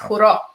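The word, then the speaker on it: хоро: Horo. Horo. Krivo Horo. Krivo Horo. Horo. Horo. Like the horror.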